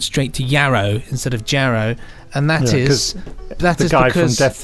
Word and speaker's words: Jarrow: is it Benji you are alone in your pronunciation of Alan platers birthplace of Jarrow that's Jer and not yeah as in the